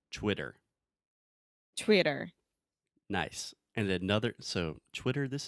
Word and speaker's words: Twitter: So when we say Twitter, if you ask an American, how do you say this social media platform? Maybe they will say Twitter, with a true T, like table, time, really making Depends on the region that this American lives? No. Or is it No, it actually depends on the stress of the syllable.